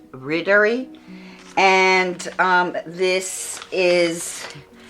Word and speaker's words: Riddari: the pattern called Ridder I call it Rari but I've heard uh the right pronunciation I believe is rder and um this is